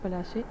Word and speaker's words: Plassey: Did you know how Plassey got its name? Plassey is an anglicized pronunciation of Palace, and the place derived its name from the Palace tree, known for its beautiful